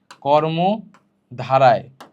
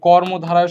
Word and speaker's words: কর্মধারয়: মাঝখানের দুইটা লিখতে তোমাদের কি সমস্যা হয়, তোমরা অনেকে লিখে ফেলো হচ্ছে কর্মধারায়, কর্মধারায়। তো এই কর্মধারায় শব্দটা ভুল, সঠিকটা হচ্ছে কর্মধারয়, ধারয়, ঠিক আছে। তাহলে কর্মধারায় না, কর্মধারয়।